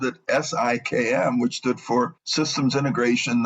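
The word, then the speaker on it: SIKM: kind of funny because people will misread it and call it skim or they'll pronounce it sium or if I say it quickly when I say si ikm they won't necessarily hear what I'm saying in any case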